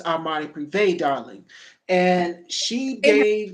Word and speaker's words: Armani Privé: It is not Armani Pre, it's Armani Privé, darling.